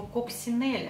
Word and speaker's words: Coccinelle: божьей коровки множественном числе поэтому если вы зайдете в интернет и ради интереса прочитаете про этот бренд будут писать что правильно произносить его коп синель они конченные хотя как